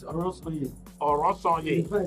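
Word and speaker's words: Oronsaye: Please, what's the right way to pronounce it? It's Orosanye.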